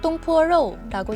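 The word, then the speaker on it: 東坡肉: 동파육은 중국어로 똥포로라고 읽는데 껍질이 달린 돼지고기 삼겹살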